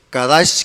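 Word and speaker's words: קדש: Es un verbo primario que se pronuncia kadash, que significa apartado para un uso especial.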